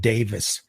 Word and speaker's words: Davies: Roger Hodson and Rick it's spelled like Davies but I think he actually pronounces it Davis Rick Davis those are